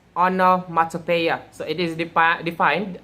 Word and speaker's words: onomatopoeia: what it means so anomaly are pronounced on pronounced as honor mata paya so it is the